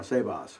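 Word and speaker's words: σέβας: of oh well that's sebas too or sebas rather uh yeah save us accent on the first syllable in either case does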